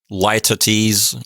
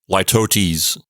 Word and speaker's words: litotes: According to the online dictionary I'm looking at, you can pronounce it as litotes or litotes, but it's spelled litotes.